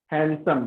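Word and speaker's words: handsome: हैंडसम, जब डी के बाद एन आए, किसी भी वर्ड में डी के बाद एन आए तो डी को साइलेंट कर देते हैं, हैंडसम, डी को काट देते हैं, ठीक है।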